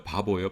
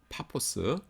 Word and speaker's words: 파포스: 바보예요, 바보. 근데 바보인데 그 스펠링으로는 파포스입니다. 파포스. 근데 우리나라 옛날에 성경 번역할 때 뭐 퍼 이런 거 잘 안 했죠. 그리고 스도 잘 뒤에 있는 건 빼버리고 그래서 파포인데 파포를 그냥 그 순하게 표현하니까 바보 이렇게 된 거예요.